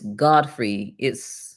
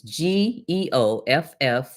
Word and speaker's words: Geoffrey: Okay, his name is Godfrey. I think that's how they pronounce it. It's Geoffrey.